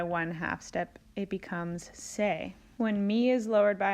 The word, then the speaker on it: Se: ends with an E the new solfege syllables end with the letter e which makes the sound a so T became teh LA became lait soul became say me became May and Ray which is